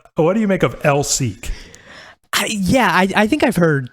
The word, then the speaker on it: LSEC: a radio interview where sean clarifies that lsec is pronounced l seek no further explanation of